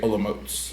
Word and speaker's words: Olomouc: a little town called Olomouc. That's how you pronounce it. It's like spelled like Olomouc, but you say Olomouc.